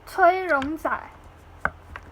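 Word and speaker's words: 崔荣宰: His Chinese name is Cui Rongzai. Yeah, it's really similar. It's Cui Rongzai.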